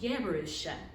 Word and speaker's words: Jerusha: And to the Jews today, when they name their daughter Jerusha, and it's spelled with a Y in Hebrew, and it's pronounced Jerusha, when they use that